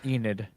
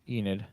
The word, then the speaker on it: Enid: mm-hmm okay and then the next one is a need uh Enid Enid Enid yep uh the third one is Lawton Oklahoma